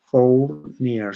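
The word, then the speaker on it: Fournier: terciaria se considera como signo del óvnibus de for near. Se escribe f o u r n i e r.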